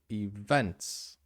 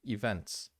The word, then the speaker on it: events: You don't stress the e. You say events, right? The events. So you stress the second E, events.